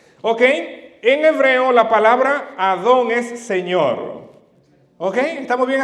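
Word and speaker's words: אדון: Señor se dice Adón.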